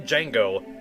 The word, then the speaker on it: Django: I think anytime I've seen that, you don't actually pronounce the D, which I'm like, why the fuck is it there then? Like the name Django.